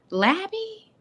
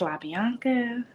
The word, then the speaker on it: La Bianca: Like, it's La Bianca, Lobby like a hotel, Miss, Coach.